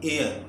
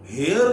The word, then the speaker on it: heir: पास लफ्ज है HEIR, इसको बोलेंगे इंग्लिश में, ये एच साइलेंट है यहाँ पे, इंग्लिश में बोला जाएगा एयर, तो एन एयर, वारिस को कहते हैं, तो एन एयर, ए, अच्छा इसको हेयर नहीं बोलेंगे, मुमकिन है